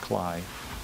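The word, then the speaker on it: Klay: Phil, K-L-A-Y, it's pronounced Cly.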